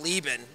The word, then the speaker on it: Leben: uh South you know my family pronounces it leben which I think is just like the chopped up you know white trash way of pronouncing the name